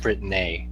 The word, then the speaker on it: Britnei: That's pronounced Britnei to you, though.